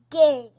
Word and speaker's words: game: So you are saying the sound of A. Long A. Long A. Means its name. And are you making any sound for E? No. So E is silent.